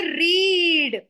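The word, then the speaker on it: read: बट इफ व से रीड तो जो स्पेलिंग रीड की है वो तो हमारी सेम रहती है लेकिन जब हम इसको पढ़ते हैं तो वी रीड इट एस रेड रीड रेड जज रेड तो वी हैव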